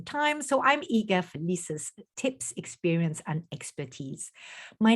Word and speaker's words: Leisa: your name properly yes because it's Lisa but written in a very uh in a in a very artistic I find way um so I mean